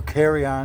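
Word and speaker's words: carillon: Or carry on in French. Is that how you say it? Well, it's a it does come from the French with the L's would be silent or make the Y sound.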